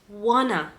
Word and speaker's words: wanna: For example, do you want to go? Do you want to go? Do you remember want to? Want to? We're going to pronounce it wanna.